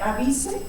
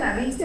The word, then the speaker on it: Avise: Por definición, el autor de esto todavía está vivo, se escribe Avise y se pronuncia en inglés John Avis. Si le dicen Avise no pasa nada.